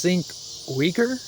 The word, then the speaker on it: Cenk Uygur: There's fell on the Young Turks uh I think his name is pronounced Sink Wager.